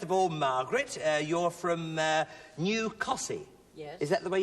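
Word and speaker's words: Costessey: Mother, first of all, Margaret, you're from New Cossey. Yes. Is that the way you pronounce that?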